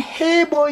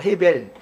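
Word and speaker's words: עֵבֶר: 이름이 나왔었죠 에벨 에벨리 신약 성경에서는 해버 이렇게 했는데 벨이란 말이야 헤벨 원 원문 발음은 헤벨이에요 헤벨 벨이 헤르 즉 자면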